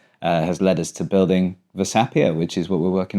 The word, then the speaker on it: Versapia: So what is Versapia? And am I saying it right?